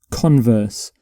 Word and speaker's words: converse: So for this particular word, you put the stress on the first syllable.